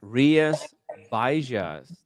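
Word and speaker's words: Rías Baixas: Rias Baixas. That's how you pronounce the area.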